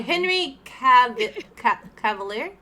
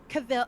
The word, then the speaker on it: Henry Cavill: Oh, Henry Cavalier? Oh yes, Cavill? it's that. How do you say it? Yeah, Say it. Cavill.